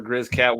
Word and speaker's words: Griz-Cat: is the week that we've been waiting for Grizz cat week uh that is how you say it